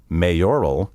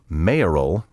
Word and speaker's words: mayoral: currency in recent years i have heard numerous broadcasters say mayoral and electoral to the best of